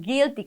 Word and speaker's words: GILTI: la muy conocida como GILTI, que suena, no se escribe igual, pero suena como un impuesto culposo, como los sin tax, ¿verdad?